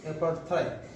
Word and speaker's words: apartheid: The pronunciation of this word is apartheid.